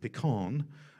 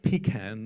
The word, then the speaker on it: pecan: Apparently, certain nuts are called pecan or pecan, not pecan nuts.